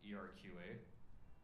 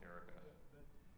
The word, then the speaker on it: ERQA: The only thing on the open source was the ERQA. It's not pronounced Erica.